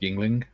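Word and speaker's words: Yuengling: Joe says, John Marley's pronounced Yingling.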